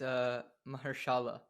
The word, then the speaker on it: Mahershala: Also, I mispronounced his name. It's Mahershala Ali. My bad. Oh, Mahershala.